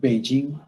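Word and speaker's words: Beijing: আবার যদি উচ্চারণ করি বেইজিং, বেইজিং, তখন কিন্তু আবার জি উচ্চারণ হয়ে যাচ্ছে।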